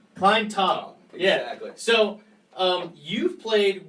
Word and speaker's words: Klinetob: Klinetob? Klinetob. Klinetob.